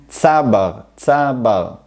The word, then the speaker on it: tzabar: Notez que qui est né ici, nous l'appelons TZAbar ce qui veut dire qu'on met l'accent sur la première syllabe, le צ et la plante, on dit tzaBAR, je mets l'accent sur